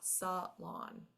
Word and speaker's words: salon: KES initially oh and here's another French word Salon again the accent is in the second syllable law this does not go to schah here so in your first syllable here this is going to be this is going to be your schah Salan um and then here's